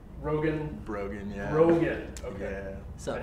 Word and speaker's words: Brogan: I'm Brogan. Brogan? Brogan, yeah. Brogan. Okay. Yeah. So how Brogan. Do you spell that?